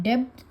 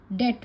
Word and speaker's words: debt: इसे हम डेब्ट नहीं पढ़ते, इसे हम डेट पढ़ते हैं।